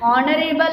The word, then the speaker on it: honorable: For example, an honorable lady. H is the silent word, so we have to pronounce here an honorable lady.